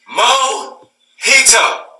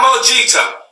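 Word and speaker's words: mojito: me I minority counter it's pronounced mo heat up not much ito mum heat up not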